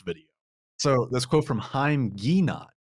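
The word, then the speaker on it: Haim Ginott: So this quote from Haim Guinat, as I believe it's now actually pronounced correctly, is true that modern life is often like a rat race.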